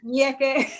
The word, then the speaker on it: ñeque: No, nyeke, no. Yeah, I found out that's the way they pronounce them, because they begin with an N with a tilde.